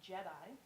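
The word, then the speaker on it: GEDI: September and we have NASA's Jedi spelled with a G the global ecosystem dynamics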